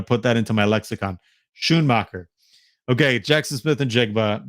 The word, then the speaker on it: Schoonmaker: Schoonmaker. Okay, I'm gonna put that into my lexicon. Schoonmaker.